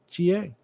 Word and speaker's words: Ooga Booga: OOGABOOGA. And yeah, around here we pronounce it Ooga Booga, but you pronounce it any way you like.